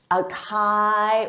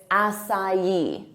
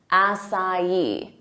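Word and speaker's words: açaí: word of English origin so they'll say a Kai or aai but that's not it it's asai assai repeat it assai now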